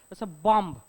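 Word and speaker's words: bomb: यातला ब सायलेंट आहे बॉम्ब उद्या तुम्ही पोलीस म्हणून लागलात बॉम्ब blast it इज नॉट बॉम्ब blast ब काय आहे सायलेंट असतो बरोबर आहे म इथे काय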